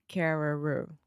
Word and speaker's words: Carreyrou: It looks like Carreira, but it's Carreyrou. Yeah, I'm not exactly sure how you pronounce the name. Carreyrou.